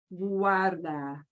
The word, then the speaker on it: guarda: GUA is going to become what they call a diphthong, meaning that U and the A both get equal pronunciation. Guarda.